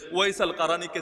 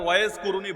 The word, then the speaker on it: ওয়াইস আল কারানী: হই কিন্তু আল্লাহ তারে এমনভাবে প্রকাশিত করে দিয়েছেন ওয়াইস আল কারানীকে চেনে কে বাংলায় হয়তো ওয়াজ কুরুনি বলেন আর কি আপনারা এটা ভুল উচ্চারণ ওয়াজ কুরুনি নামে কেউ নাই ওয়াজ মানে